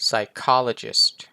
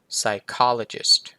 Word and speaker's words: psychologist: ปวม นะ ครับ ผม ตัว P ไม่ ออก เสียง นะ pneumonia ถัด มา